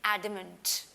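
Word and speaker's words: adamant: इसको आप stubborn pronounce करते हैं, स्टबन, और इसको आप प्रोनाउंस करते हैं एडमेंट। एडमेंट बिकॉज एंड में क्या है? टी, तो वर्ड इज एडमेंट।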